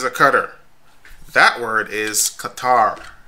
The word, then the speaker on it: Qatar: it out right across the screen most Americans pronounce that word by saying cutter no it's not cutter this is a cutter that word is kuitar it's a country in the Middle East Qatar